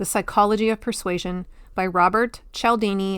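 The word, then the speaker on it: Cialdini: It's called Influence: The Psychology of Persuasion by Robert Chelini. It's spelled C I A L D I N I.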